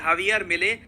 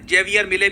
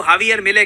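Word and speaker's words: Javier Milei: इनका नाम है हावियर मिले। इनको इंडिया में हम लोग काफी बार जेवियर मिले भी कह देते हैं। वैसे जो करेक्ट प्रोनाउंसिएशन है इनकी अर्जेंटीना में, उनके मीडिया में इनको हावियर मिले कहते हैं।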